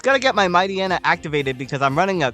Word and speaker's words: Mightyena: It's Mightyena, but I like pronouncing it as Mightyena personally because it's like a hyena, right?